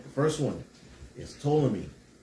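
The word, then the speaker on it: Ptolemy: The first one is to me, right? To me. Spell it PT. P O L E M Y. Tommy.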